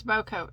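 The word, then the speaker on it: bocote: pronounce anything uh okay i think it's about coat no i looked it up that is how you that's how you pronounce it unless google's wrong but that's how you pronounce it um bokeh b-o-c-o-t-e that's the type of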